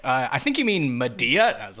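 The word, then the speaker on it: Madea: a bunch of movies about a character named Medea, but I'm not black enough to know that it's pronounced Medea.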